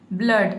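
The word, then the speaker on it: blood: देख सकते हैं कि यहां पे डबल ओ आया है। लेकिन यहां पे डबल ओ को हम ओ नहीं पढ़ते हैं। इसमें डबल ओ का जो साउंड है वो अ का साउंड आता है। अ का। यहां पे हम अ पढ़ते हैं। अ।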